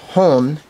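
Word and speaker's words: 本: two 3 four five Strokes it is it's pronounced hon h o n um it's also Moto um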